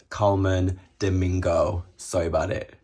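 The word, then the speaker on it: Colman Domingo: Up next, we have Coleman Diego in Valentino. Guys, I'm just editing this video and I know I keep saying his name wrong. It's Coleman Domingo.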